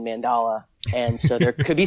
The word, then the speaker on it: mandala: just for for reference some people say Mandela I never knew it pronounced any other way than mandala and so there could